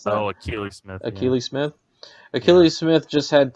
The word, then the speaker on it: Akili Smith: Is that how you pronounce that? Oh, Akili Smith.